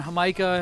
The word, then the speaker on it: jamaica: we get horchata and hamaika and all those other right uh mexican i don't even know if i say micah that micah it spelled like micah it smelled like jamaica though you had it right